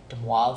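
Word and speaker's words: de Moivre: very very simple okay so the way you pronounce that is Dubois's de moi theorem and it's basically you can think of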